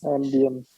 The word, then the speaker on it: ambience: Ambience. Good job, ambience. So the letter I here is pronounced as E, ambience.